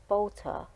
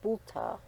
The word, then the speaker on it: Balter: and his name was Balter but pronounced bulta in German and when they went